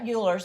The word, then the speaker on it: Euler: Which looks like Euler's, but it actually is pronounced Euler's.